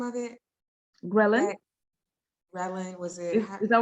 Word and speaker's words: ghrelin: I thought you said Relin or Raylene or something like No, that. it starts with a G.